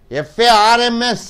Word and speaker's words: farms: together crabs crabs next M plus s is equal to um f-a-r-m-s how do you pronounce Farms Farms Farms The Zone should come w o r m